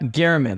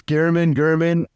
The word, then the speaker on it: Gehrman: All right, folks, that's Gehrman. Is that how you pronounce it? Yeah, that works. Gehrman, either or.